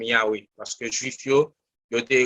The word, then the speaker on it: Yahweh: D'ailleurs, il était même utilisé un tétragramme qui était YHWH, qui était prononcé comme Yahweh, parce que juif il